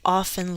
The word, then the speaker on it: often: children what do children often leave off often i drop the tea often what do children